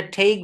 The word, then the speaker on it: take: TAKE, দেখেন TAKE, এটা টেকি বলা যাবে না, এটা ঠেইক বলতে হবে।